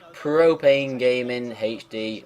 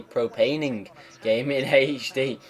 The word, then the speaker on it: Propane Gaming HD: So yeah, it finished Cyprus 2, Propane Gaming HD 3. Oh, I said it right that time. I didn't say Propaning Gaming HD.